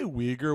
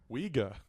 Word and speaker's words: Uyghur: Did you say Uyghur with a hard R, dude? Yeah. That's crazy. They're Uyghur'ing around. No, you can't say that. What? How do you say it? Uyghur.